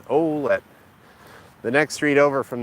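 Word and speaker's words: Ouellette: olette Avenue here it's if you're French you would pronounce it wette but here in Windsor we kind of have different ways of pronouncing things than uh I don't know I guess than the the French settlers that settled the area so it's olette the next street over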